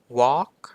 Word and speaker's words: walk: มี เสียง ถัด ไป Walk Walk ก็ คือ เดิน ใช่ ไหมม ครับ ผม เพราะ ฉะนั้น ตัว L ไม่ ออก เสียง นะ ครับ ใน คำ เหล่า นี้ ตัว L ต่อ มา